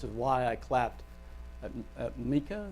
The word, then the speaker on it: Maca: why I clapped at Mika. Is that Micah? How do you say your name? Maka. I knew I was going to get it wrong.